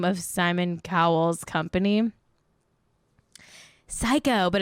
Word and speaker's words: Syco: Psycho, but it's spelled SYCO.